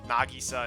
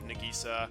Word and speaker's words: Nagisa: so i'm kind of trying to do the japanese pronunciation such as like nagisa instead of nagisa kotomi instead of kotomi